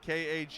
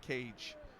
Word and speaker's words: Kage: all the time, and Kage is not Cage. It's not one syllable, it's two. I get Cage, and I get, and I get. And I'm like, it's not any of those.